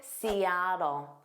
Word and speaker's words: Seattle: So notice that a is the stress sound. Sea. And the native speakers will pronounce those T's as a soft D and it sounds like do but it's an unstressed sound.